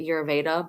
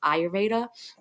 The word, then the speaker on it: Ayurveda: which is I always pronounce it wrong I pronounce it yeraveda but it's not it's pronounced ayurveda doshas go ahead go to what is her